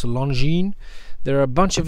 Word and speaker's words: Longines: here okay something from longine and i guess i'm pronouncing it right you learn i think you're not supposed to pronounce the s it's longine there are a bunch